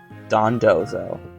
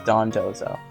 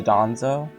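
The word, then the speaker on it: Dondozo: next is dawn Don dozo right I think that's yeah it's Don dozo because people always say the danzo I think it's Don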